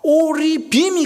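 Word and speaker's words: ערבים: 오리빔이 가져다 주었다. 그러면 상인들이 돼요. 제가 지금 구분을 하고 있죠. 제 발음이 구분되고 있죠.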